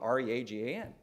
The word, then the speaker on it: Reagan: he shows him Ronald Rea GaN and the guy walking the dog says oh yeah it's Reagan it's Ronald Reagan Reagan now you're sure it's Reagan it's not Regan it's Reagan yeah Reagan boy that